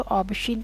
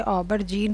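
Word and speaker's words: aubergine: Europe में बैगन को ऑबशीन कहते हैं। स्पेलिंग के हिसाब से पहले मुझे लगा कि ये ऑबरजीन होता होगा, लेकिन फिर गूगल वाली दीदी ने प्रोनाउंस करके बताया कि ये ऑबशीन है।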